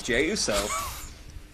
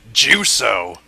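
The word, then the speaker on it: Jey Uso: I'm like okay so J Uso is losing oh it's j Uso I always pronounced it juo I thought they were uh Jewish Samoans juo silly Vin I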